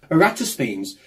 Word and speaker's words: Eratosthenes: There lived a man named Eratosthenes. It's pronounced Eratosthenes.